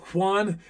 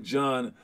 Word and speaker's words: Juan: go all right bruh juan is a spanish name i've never met a john or juan that's pronounced like john um oh yeah you